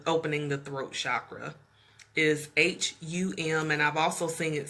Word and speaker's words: Hum: So the chant for the opening the throat chakra is H-U-M, and I've also seen it spelled H-A-M. So, but either way, they're both pronounced the same way, which is hum, hum.